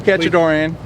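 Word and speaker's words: Katchadourian: best my name is my name is Paul catchadorian it's spelled k-a-t-c-h-a-d-o-u-r-i-a-n I'm the owner of catch environmental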